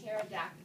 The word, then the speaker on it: pterodactyl: Okay, and so the P is silent. P-T-E-R-Y-G-O-I-D, pterodactyl, the pterygoid.